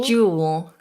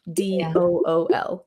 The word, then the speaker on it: dual: How did you pronounce the word dual? Jewel. Jewel. Jewel, almost like a J sound. Mm-hmm. Jewel flush. Okay. Because I would just say dual. DOOL. Dual. And do you have these dual flushes in America, or?